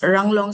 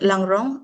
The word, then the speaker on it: Ranglong: This is Ranglong, but in the Some of the scholars, they could not pronounce Ranglong, so they say it's They pronounce it Langrong, and Mar, Anal, Kom,